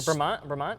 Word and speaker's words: Bremont: But I don't even know how to pronounce the brand. Bremont, yeah.